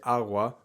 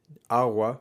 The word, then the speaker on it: agua: take the word agua you will rarely hear a spanish speaker say agua with a hard g agua that doesn't really exist in most cases in most varieties of spanish you'll hear people say awa with a soft g and in some varieties